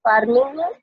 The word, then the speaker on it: pharming: अब फार्मिंग क्या कह रहा है, फार्मिंग, ये फार्मिंग वो वाली फार्मिंग नहीं है, ये इसको प्रोनाउंस करते हैं इसी तरीके से, मैं लिख देती हूँ, फार्मिंग एज, इसको ऐसे बोलते हैं लेकिन ये फार्मिंग होता